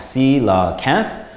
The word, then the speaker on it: coelacanth: more about this mysterious dinosaur fish the coelacanth pronounced sila Kenneth is a special type of giant fish so